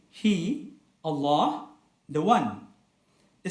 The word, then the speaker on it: Allah: So the more accurate spelling is ALLAAH, and the more accurate recitation is Allah. The A sound is pronounced with two harakat and cannot be shortened to one harakat.